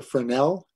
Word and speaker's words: Fresnel: fixture is called the fresnel for now right as you spell it it's really like a French term for e-s-n-e-l f-r-e-s-n-e-l a fresnel it's usually a spotlight